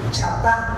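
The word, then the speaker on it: חטאת: los originales, esta palabrita pecado significa o se pronuncia chatá.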